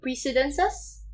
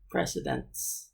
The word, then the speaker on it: precedents: I think another would be to discuss new precedences or precedences. How do you pronounce that? Precedents. Precedents. Oh. Precedents.